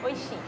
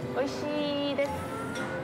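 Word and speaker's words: oishii: Oishi. Oishi? Oishi desu.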